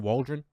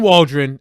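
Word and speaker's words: Waldron: offensive coordinator Shane how do you say it walren is that right hey Kenny is that right Shane Waldren that's what it sounds like yep Shane Waldren uh you get a new offensive coordinator in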